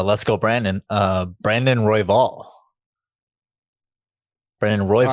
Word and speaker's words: Royval: everything else uh let's go Brandon uh Brandon royval Brandon Roy all right so well I mean